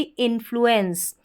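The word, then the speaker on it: influence: ENCE को एंस पढ़ते हैं और जो इन है ये भी रिपीट होता है। तो देखिए स्पेलिंग क्या बन गई, ININ FLU। अब FL होगा तो उसको फ्लॉ पढ़ते हैं, साथ में U है तो ये बन गया फ्लू। क्या बन गया, फ्लू। इन फ्लू, फिर है एंस, ENCE एंस।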